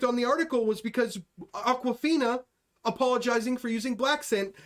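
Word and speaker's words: Awkwafina: talk about aquafina okay aquafina is an asian woman but it's spelled are you ready for how she spells it a-w-k-w-a-f-i-n-a it's like yeah it's like awkward okay yeah she's apologizing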